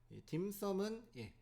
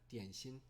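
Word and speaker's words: 点心: 알고 있는 그 점심 중국어를 읽으면 디엔씨니라고 합니다 디엔신 딤섬 딤섬이라는 발음은 이제 표준어는 아니고요 주로 광동지역에서 이게 발달하고 외국에이 딤섬 문화가 알려졌기 때문에 우리나라에서도 점심이라고 안 하고 딤섬 광동의 발음을 그대로 따라와서 딤섬이라고 합니다 방금 이야기했듯이 중국의 어떤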